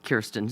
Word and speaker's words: Kirsten: And I apologize for pronouncing your name Kristen instead of Kirsten.